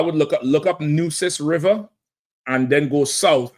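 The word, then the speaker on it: Nueces: So I would look up look up Nus River and then go south and see if you find a Tampo region. Okay. All right. N E Wis N EU. It's like deuces.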